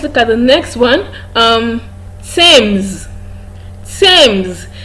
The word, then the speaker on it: Thames: it has th in its spelling, it is pronounced as t. Thomas, not Thompson. Okay, let's look at the next one. Thames.